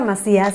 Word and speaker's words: Macías: your last name perfectly my name is Marcia's in Spanish but you can say asks everybody Miss America hey how do you say the last name again Macias my see us they don't Iike Macias bet only got messy